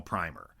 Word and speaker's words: primer: Well, he pronounces the movie title primer, but when we're talking about juvenile reading tests, same word, but pronounced primer instead of primer.